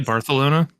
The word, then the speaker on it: Barcelona: King is it really barthelona yeah they they pronounce like every C or S they pronounce like with a with a lith oh that's how they